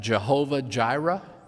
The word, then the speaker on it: Jehovah Jireh: germanized version of that Jehovah Jireh that's because in German the J is pronounced like a y ahwehire you've probably heard